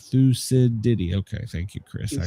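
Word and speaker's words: Thucydides: Uh, see, it's pronounced thusides. Thusidi.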